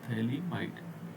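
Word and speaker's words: phthalimide: Gabriel थैली might reaction थैली य पी एच साइलेंट होता है त होता थली माइड ठीक है थैली माइड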